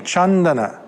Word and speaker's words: Candana: to pronounce the C the C in P it's a cha like my name chandana sometimes it actually has